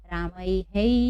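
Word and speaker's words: रामैः: इसलिए जब भी आई की मात्रा हो विसर्ग के पहले, तो हमें उसका उच्चारण किससे करना होगा? रामय ही। हम कैसे पढ़ेंगे इसको? रामय ही। समझ गए? रामय है, ऐसा नहीं पढ़ेंगे, ये गलत है। हम लोगों पढ़ना है ही, तो रामय ही।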